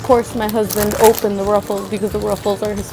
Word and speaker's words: Ruffles: I know in Mexico, the way they pronounce it is Rufles. I just call them Ruffles because it's Ruffles.